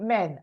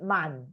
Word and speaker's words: man: You say men and it's man because men is what? Men is the plural. plural. Man is the singular.